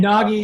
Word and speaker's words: Nagy: And Nagy is pronounced Nagy in the US and Naj everywhere else.